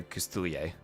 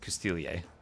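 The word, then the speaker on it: Coustillier: Other than the disagreement over Custilier. and whether or not that S should be pronounced. I have settled on pronouncing the S because it's written in the word, and apparently the word also can be written without the S.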